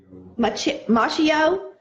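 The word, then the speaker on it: Macchio: Machino? Machio.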